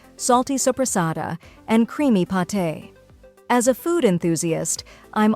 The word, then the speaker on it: pâté: Some examples include salami, suh-lah-mee, prosciutto, proh-shoo-toh, pâté, pah-tay, fromage, froh-mahzh, cornichons, koh-nee-shohn, baguette, bah-get. Final thoughts. In short, mastering the pronunciation of charcuterie is a valuable skill for any food lover or culinary professional.